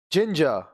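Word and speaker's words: ginger: बढ़ते हैं अब देखिए इसी प्रकार इनमें भी ज बोला जाता है जैसे जिंजर अब देखिए आई एन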